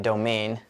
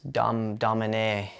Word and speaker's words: Domane: I was pronouncing it domain. It's domane.